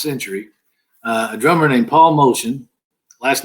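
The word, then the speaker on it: Motian: of the past century, a drummer named Paul Motion. Last name is spelled Motin.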